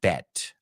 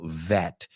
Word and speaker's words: vet: I already said you don't pronounce it bet, apuesta, sino vet.